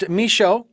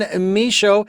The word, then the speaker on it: Michaud: not it is misho and that's a-n-n-e-m-i-c-h-a-u-d the D is silent folks and misho and uh you can